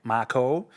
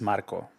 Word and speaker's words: Marco: So people pronounce it like Marco, but it's Marco. Got to roll the R, Marco.